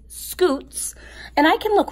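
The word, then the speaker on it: scutes: look again and see shoots I'm sorry you know what I pronounced that wrong I would have thought that that was nope it doesn't have an H it is scoots and I can look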